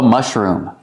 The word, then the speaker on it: mushroom: Use the short sound, like cup and up. Mush. And then room with a long oo, like food. Room. Mushroom.